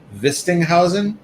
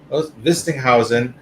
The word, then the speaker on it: Wistinhausen: ash pocket and our very special guest vistinghausen did i did i pronounce that correctly yeah perfect vistinghausen of pk electronics who has made some really